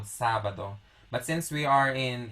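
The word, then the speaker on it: sábado: of the the vowel if we don't put the accent on top of a on the syllable of sa it would be pronounced as sabado sabado so there's an emphasis that is put on top of the sa that's why it's called sabado but since we are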